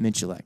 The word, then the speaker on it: Miculek: Miculek. That's Miculek. How I always said it. There you go. Hold on. You put an R in it. Miculek. Wait, no, what? No. Miculek.